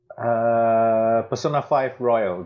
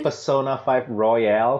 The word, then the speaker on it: Persona 5 Royal: Persona 5 Royal. That's what I've been playing. I keep wanting to say Persona 5 Royale for some reason. I just but it's Royal. It's spelled without the E.